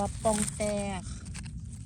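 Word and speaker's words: ปองแตก: อนิ อนิ ปอง แตก เจ้า อย่า ออก เสียง ผิด เด้อ มัน ออก ว่า ปอง แตก เป็น เห็ด ผิด ที่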